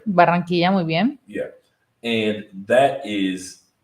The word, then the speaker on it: Barranquilla: I pronounced it correctly, right? Barranquilla, muy bien.